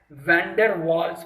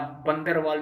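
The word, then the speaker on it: van der Waals: और ये बहुत स्ट्रॉन्ग इलेक्ट्रोस्टैटिक फोर्स होता है इसमें, week week वैंडर वाल्स force, VANDER, WAALS, double A याद रखना, मैं स्पेलिंग गलत नहीं बोल रहा हूँ, WAALS, वैंडर वाल, बंदर वाल भी बोल सकते हो, अपने घर में लगता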